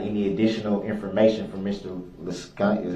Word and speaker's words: Liscano: Liscano? How do you say it, Liscano? Liscano. Liscano.